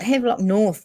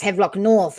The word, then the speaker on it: Havelock North: the the uh have locked nor is it headlock north that's why it's havelock north i knew that where's that again have lock